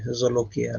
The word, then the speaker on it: Jolokia: So the yeah, in our dialect we pronounce it with a Z rather than a J, Zolokia rather than a Jo.